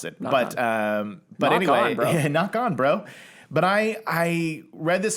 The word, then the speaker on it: Ngoc Anh: Ngoc Anh is that how you pronounce it. Knock Anyway, on, bro. Ngoc Anh, bro.